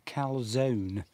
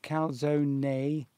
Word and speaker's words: calzone: Do you pronounce the E? Is it calzone or just calzone? It's probably calzone. So number one, calzone. Number two, calzone. See, I've heard it pronounced both ways. I have. So is it one or two? Francesca, please tell us. We're paying a lot of attention to Francesca today, of course. Oh, it's number two.